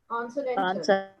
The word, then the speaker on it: consonantal: Consonantal. Don't make it conso, because as NAND gets the stress, the previous SO becomes weaker. Consonantal it doesn't become conso, becomes weak.